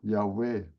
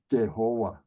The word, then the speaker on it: Yahweh: Yahweh they pronoun Adonai so Christian don't know how it pronounced so we misunderstood and we pronounce Jehovah for I think more maybe thousand of years until in the last 50 60 years we just realize that we pronounce it long for hundred of years it should pronounce yeah way not Jehovah now you see a